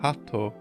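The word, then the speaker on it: 鳩: This is likely a pun based on the fact that the kanji is pronounced hatto, a similar sounding word to heart.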